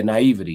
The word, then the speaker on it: naivety: Yeah, naivety.